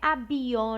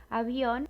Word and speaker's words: avión: Então, esse V, ele vai ser pronunciado com som de B, mas é um B bem sutil. Não é avión, nem viento, é algo mais sutil. Avión, viento.